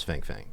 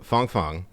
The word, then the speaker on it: Fang Fang: comes to i believe her name is fang fang and uh or christine thing i think that's fun sorry i apologize we had china uncensored on the show and so we got the correct pronunciation oh it's just not sounding so nice nice um so fong fong she had basically embedded